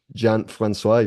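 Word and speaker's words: Jean-François: very legendary musician from the metal World um Johan franois if I'm pronouncing this correctly from the lot of people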